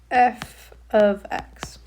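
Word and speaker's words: f(x): Okay, that's how you pronounce this is f ofx.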